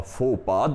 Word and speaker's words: faux pas: Okay, and the next one, friends, it is spelling is totally different and the pronunciation is not according to the spelling. The spelling is F-A-U-X-P-A-S, but the pronunciation is faux pas.